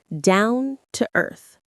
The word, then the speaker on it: down to earth: The stress is pretty even, but maybe a little more on earth. Listen. Down to earth. Down to earth. Notice how the words link together.